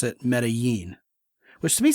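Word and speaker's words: Medellín: understand oh yeah because the Double L is a z instead of a y and they really kind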